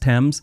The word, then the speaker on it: Thames: wait for them to correct you it's actually pronounced Thames and it's the River Thames not Thames river